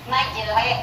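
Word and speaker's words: مجريها: Nah, jadi kalau kita menemukan di atasnya ada tulisan imalah kecil, maka ini kita akan bacanya tidak majero, bukan ro, tapi lebih condong ke kasroh, kurang lebih 2/3-nya. Jadi majere gitu ya, majere.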